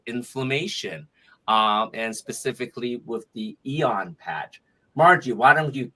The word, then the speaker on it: Aeon: And we are promoting Lifewave patches this week, the Aeon, which is Aeon, pronounced Aeon, and it's considered the happy patch.